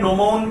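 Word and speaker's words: gnomon: और इन्होंने नोमोन का आविष्कार किया। ये बहुत इंपॉर्टेंट है जी, यहाँ पे साइलेंट है।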